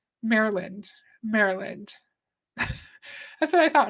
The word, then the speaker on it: Maryland: Maryland Mar Maryland Maryland how do you say that name Maryland not Maryland did a lot of